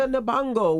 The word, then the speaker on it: Nabongo: Yes, that's Jessica Nabongo.